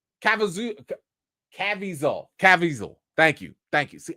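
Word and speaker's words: Caviezel: Cavisel.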